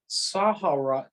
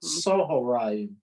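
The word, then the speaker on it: צָהֳרַיִם: the word is not pronounced Sahoraim, but Sohoraim.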